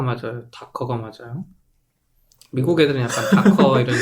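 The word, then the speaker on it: Docker: 근데 도커가 맞아요. 다커가 맞아요.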